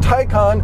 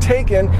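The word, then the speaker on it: Taycan: then the porsche taikan turbo yes it is pronounced tycon not taken even though that's how it's spelled and the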